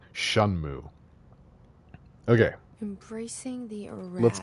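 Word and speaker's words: Shenmue: By the way, that's how you pronounce that. Shunmu.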